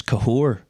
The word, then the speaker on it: Cathaóir: would have went hello cther well I know I've heard cath hello cther the way you actually pronounce my name is kahor cuz I have a